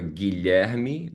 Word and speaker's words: Guilherme: Gui, that's going to be short for Guilherme. That's a Portuguese version. And the last name is.